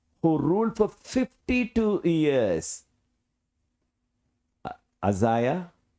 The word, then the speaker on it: Uzziah: Uzziah, some people may pronounce Ujjaya.